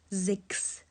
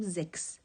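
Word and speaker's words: sechs: رنگ دیگه مشخص می‌کنم اینجا میگیم زکس زکس چون که چسبیده به اس هست و ما نمیتوانیم ش و س با هم کنار هم تلفظ کنیم فکر کنین ش اصلا شدنی نیست بنابراین ک خوانده میشه اینجا میگیم زکس زکس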